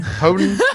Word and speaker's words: Joden: other because you played Joden, however the fuck you Joden. pronounce it. I like the Spanish pronunciation Houghton. Hoden? I was about to say that. Let's go with Hoden.